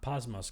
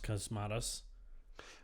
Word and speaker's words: Cosmatos: uh long Halloween I also pronounce the director's name wrong earlier apparently is cosmatus not posmus cosmatos but longtime fans know that we don't know